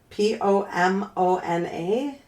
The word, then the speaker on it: Pomona: Pomona. Yeah. P O M O N A sounds like Pomona. Pomona.